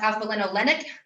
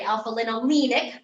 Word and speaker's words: alpha-linolenic: Alpha-linolenic, 3-nic, rhymes with 3. I'm pretty sure it's pronounced alpha-linolenic. However, I remembered it to rhyme with 3, so I can remember it's my omega-3. So in my head, I always say alpha-linolenic, sounds like 3-nic for omega-3.